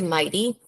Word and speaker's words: Whitesell: It's actually Mighty. Mighty, sorry. Yeah, that's okay. You wouldn't know. So my name, it's Spanish, and so many people, will not know how to pronounce. So it's Mighty, like Mighty Mouse.